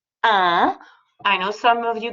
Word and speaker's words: un: a and it's pronounced ah i know some of you guys speak spanish it's spelled you n but it's pronounced ah just like number one ah okay same thing if